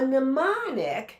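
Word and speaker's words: mnemonic: A nemonic that's pronounced as if the M is silent.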